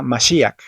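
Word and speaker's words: משיח: Lo mismo sucede en la palabra Mashiach. Aquí la letra yud tampoco tiene una vocal, pero se utiliza para marcar y acentuar la vocal i que acompaña a la letra shin.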